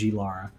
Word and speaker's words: Lara: my heart for og lara um which i base i also i think we talked about this before like i used to call her laura croft i'm trying to pronounce it as lara because that's yeah i